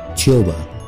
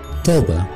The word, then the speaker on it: tuba: نمبر 5 قالت النفخ اللي قدامنا دي بالبريتش اسمها تيوبا، تيوبا بالامريكان توبا، توبا بريتش تيوبا بالامريكان توبا.